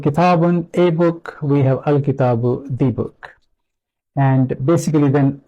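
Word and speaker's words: الكتاب: So when we add lam, and because lam is silent, it becomes difficult to pronounce it. We can try, we can say l-khitab, so it's really difficult to pronounce. And what Arabs then do is they add hamza before it and give this hamza fatha. So the word becomes al-kitabu, which is then easy to pronounce.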